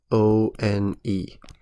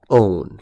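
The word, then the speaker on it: -one: E, and replace with O-N-E, which is pronounced own, right? Not one.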